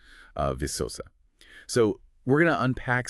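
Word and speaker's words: Viçosa: That's pronounced uh visosa.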